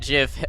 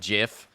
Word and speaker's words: GIF: rils a few people my stance in the debate is that either is acceptable I'm not saying JF is the right way but I am saying it is an acceptable way I don't I don't